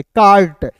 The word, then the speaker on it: cart: ए है तो आ के रूप में उच्चारण करेंगे और आर है तो इसके ऊपर रेफ लगा देंगे, कार्ट, CART कार्ट, ठीक ना।